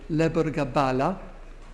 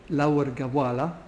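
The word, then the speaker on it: Lebor Gabála: L'un des manuscrits les plus célèbres s'appelle le Lebergabala, ou en irlandais moderne, Laurgawala, suite au changement phonétique. C'est pour ça qu'il y a deux prononciations possibles.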